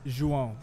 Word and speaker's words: João: How do you pronounce it in Portuguese? It's João. It's spelled João. J-O-A-O. J-O-A-O. And that's pronounced João. what? João. João. I like that much It's better, like man. Me too. It's all in the nose.